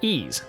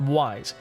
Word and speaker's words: Ys: ease series of games that's right I said ease not wise in Japanese it's written